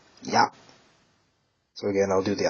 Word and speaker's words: 八: This is pronounced in the on reading. Hachi. And the kun reading. Ya.